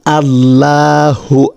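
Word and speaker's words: الله: আল্লাহ শব্দকে সঠিকভাবে উচ্চারণ করার জন্য দ্বিতীয় রুলসটা হচ্ছে শব্দের তাসদিদের আগে জের থাকলে তখন লামের আওয়াজকে পাতলা করে পড়তে হয় অর্থাৎ এটা হচ্ছে আল্লাহ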